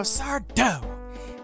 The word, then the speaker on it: Sardo: That's not Sardo, Sardo. No Mr. Accent on the dough.